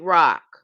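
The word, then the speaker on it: Roch: His name is Saint Rock name spelled R O C H. R O C H but pronounced R O C K.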